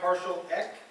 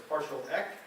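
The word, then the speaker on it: PartialEq: top and bottom and it's going to derive partial X that's how we pronounce it as partial X and partial order right so what is the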